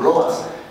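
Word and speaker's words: Lovaas: mencionar este hecho por lobas eh o lobas como él decía que lo pronunciara es un psicólogo eh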